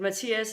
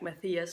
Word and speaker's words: Matthias: I'm pronouncing this correctly, but Matthias is a pretty common name in Denmark, and this is how we would pronounce it. We won't be pronouncing like Matthias, like Matthew or something. We'll be saying Matthias.